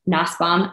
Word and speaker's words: Nussbaum: want to welcome to the show Miss nasbaum I totally just probably butchered your last name you actually said it